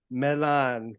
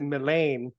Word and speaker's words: Millane: thank you so much my surname Milan perfect okay good I've been practicing because the way the way her last name is spelled uh I would pronounce it melane but I've been practicing my you know I've been practicing for this so yeah okay perfect I'm glad I was able to pronounce it correctly how do you do